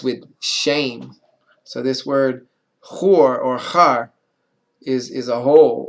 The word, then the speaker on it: Hur: So this word hur or char is a hole or a den, and the name is hur. The name of a person was, or the name H-U-R in the scriptures.